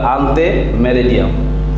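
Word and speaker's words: ante meridiem: তো সেক্ষেত্রে এম এর ফুল মিনিং হচ্ছে অ্যান্টি মেরিডিয়াম, অথবা আমরা যদি ল্যাটিন শব্দের মতো উচ্চারণ করি তাহলে আনতে মেরিডিয়াম।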